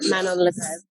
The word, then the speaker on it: Manon Lagrève: I am in Toklas Restaurant with Emma Pudge and Manon La Greve. Have I pronounced that correctly?